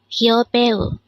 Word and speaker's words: 여배우: This is pronounced as a three-syllable word. The first syllable is yo, second syllable is be, and third syllable is u.